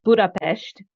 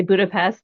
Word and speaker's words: Budapest: in Hungarian um uh it's Budapest because the S has a sh sound and so if people say Budapest you know okay they